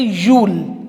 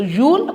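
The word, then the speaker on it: you'll: इसको आप you will भी बोल सकते हैं and you can say Yule. Okay, so Yule or you will, both ways you can pronounce it.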